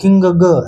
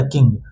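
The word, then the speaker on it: king: हां हम लोग को ये याद रखना है कि एन जी का जो है अनुस्वार ग एक साथ आता है। ऐसा नहीं कि इसे बार-बार ग किंग ग ऐसे करके नहीं पढ़ना है। इसका उच्चारण किंग ग ऐसे नहीं। सीधे इसका उच्चारण क्या हो गया? किंग।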